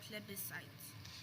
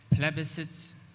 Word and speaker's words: plebiscite: pronunciations for the word plebiscites so there's plebiscite and there's also plebiscite plebiscite plebiscite plebiscite plebiscite please